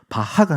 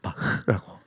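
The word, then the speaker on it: Bach: 그래서 그 독일 말은 흐를 잘해야 돼. 이거. 그래서 바하가 아니라 바흐라고.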